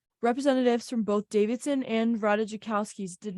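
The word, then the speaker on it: Ratajkowski: it Pete Davidson is getting to know Emily Rada jakowski that's how you say it today a source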